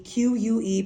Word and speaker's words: que: No accent over the E, Q-U-E, pronounced que, which means that.